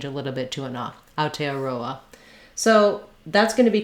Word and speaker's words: Aotearoa: for there so again trying to go for aotearoa is going to be pretty good again i